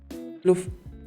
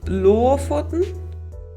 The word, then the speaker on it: Lofoten: Put a pressure on the first O and you have the dialect.